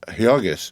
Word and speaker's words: Jurgis: married and married to jurus pronounced hogus of all men to